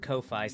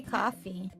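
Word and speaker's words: Ko-fi: coffee it's pronounced coffee it's pronounced coffee officially but everybody calls it Kofi so there's a distinction because and not everybody you say coffee I'm not everybody because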